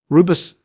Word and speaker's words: Rooibos: Rooibos, pronounced Rooibos, is a naturally caffeine-free herbal infusion made from the leaves of the Aspalathus linearis plant native to South Africa.